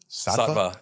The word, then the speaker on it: Sattva: How do you pronounce it? Sattva. Yeah. Oh, I've seen it. I thought it was, for some reason, I thought it was like stevia.